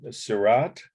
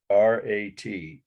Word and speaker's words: Seurat: A very important work, and it's Seurat, Seurat, a Sunday on La Grande Jatte. It would be how the French pronounce it.